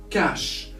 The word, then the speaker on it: cache: Cash. So we spell it as cash.